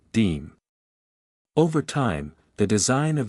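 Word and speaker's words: disme: creation of the dime, originally known as the dime, pronounced deem.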